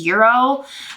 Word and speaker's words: gyros: calls them something different i think the technical pronunciation is euro but we call them gyros where we're from so that's what i'm calling them then sunday for breakfast